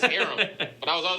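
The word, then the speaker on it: Keith Arem: Hey, man, I used to call Keith Areem. It's Aram.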